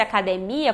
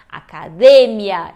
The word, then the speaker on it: academia: Se fosse academia, como economia, tem o acento no I em espanhol. E nesse caso não. Então é o mesmo caso do porque, do metro, do cerebro. São todas paroxítonas terminadas em N, S ou vogal. E por isso não levam acento.